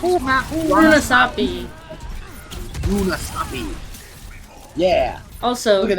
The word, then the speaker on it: Runasapi: How do you pronounce this map? Runasapi.